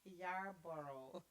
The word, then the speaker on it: Yarborough: yarboro it's not no job bro it is yarborough i believe it's how you pronounce that one so would you like your